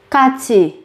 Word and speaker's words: 같이: Kachi, kachi, kachi, cùng, kachi, cùng. Các bạn nhớ chú ý về cách biến âm khi phát âm.